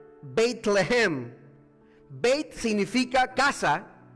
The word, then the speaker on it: Bethlehem: La palabra Belén en hebreo se pronuncia Bethlehem.